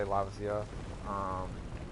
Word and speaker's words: Lavasioth: That's how I say it. I just say Lavasioth. But I've heard people pronounce it trying to add the S to the lava part and the Eoth as an extra part.